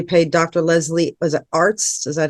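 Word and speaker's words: Arzt: that's when you paid Dr Leslie was it Arts is that how you pronounce it Arts yeah all well there was some ARS ARS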